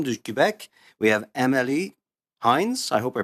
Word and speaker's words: Heinz: If you could correct me on the pronunciation of your last name to begin with, that would be great. Merci, Monsieur le Président. Donc oui, Amélie Hines, simplement. Yes, Emily Hines is my name, and thank you very